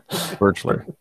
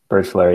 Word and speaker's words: Birchler: Please tell me how to pronounce that properly. Birchler. Birchler, yep.